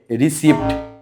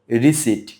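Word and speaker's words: receipt: এটার উচ্চারণ করে থাকে রিসিভ কিন্তু এখানে পি এর উচ্চারণ হবে না সঠিক উচ্চারণ রিসিট আর ই সি আই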